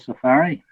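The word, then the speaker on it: SEFARI: recently in a collective called safari and it's spelt wrong it's spelled s-e-f-a-r-i so i would encourage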